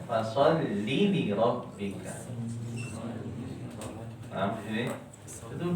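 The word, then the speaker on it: فَصَلِّ لِرَبِّكَ: Fasolli enggak panjang. Fasolli li rabbika.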